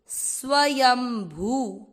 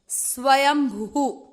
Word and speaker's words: स्वयंभू: पधारे बड़ी मात्रा भूत स्वयं भू भू पर बड़े ऊ की मात्रा है तो इस तर्क को पढेंगे इच्छुक कि स्वयंभू स्वयंभू शब्द धामण शंभु